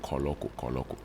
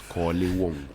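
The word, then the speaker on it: Korle Wokon: It's not Koloko. It's Kole Wonko.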